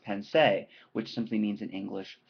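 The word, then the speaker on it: Pensées: The writings that he composed that this particular piece is taking from formed a collection that in French is pronounced pensée, which simply means in English thoughts.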